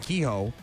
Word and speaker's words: Kehoe: Is it Kehoe? Did I pronounce that correctly? Yeah, Cammie Kehoe.